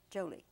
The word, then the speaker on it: Jolie: angelina hi jolie yes the emphasis on the joe jolie joey jolie yes because